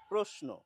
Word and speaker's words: প্রশ্ন: পরিষ্কারভাবে বলে দেওয়া রয়েছে তালব্য স এর সঙ্গে যদি দন্ত ন থাকে তাহলে উচ্চারণ হওয়ার কথা দন্তস এর মতো এস এর মতো অর্থাৎ বিধিমতে কিন্তু আমাদের প্রশ্ন বলা উচিত কিন্তু পশ্চিমবঙ্গে এখন প্রশ্ন চলছে বেশিরভাগ শিক্ষিত বাঙালি